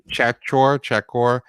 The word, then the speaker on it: Czachor: It's by Emily Chakor. It's spelled Czachor, and it's July 13th, 2020 at Newsweek.